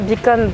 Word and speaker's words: B'com: Alors, Bicom, on prononce Bicom comme to become, devenir, B pour Bangil et com pour communication, ce qui était à la base, la base de mon activité, c'est le conseil dans la communication. Et aussi pourquoi je préfère appeler, je prononce Bicom en anglais, donc devenir, c'est parce